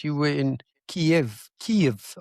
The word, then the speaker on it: Kyiv: Kyiv, I believe, is how you pronounce it. It's not Kiev, it's Yeah, Kyiv.